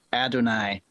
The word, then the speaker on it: Adonais: is a donius yeah recently I I heard somebody on on a podcast say that they researched it and it's supposed to be pronounced Adonai oh sure but that doesn't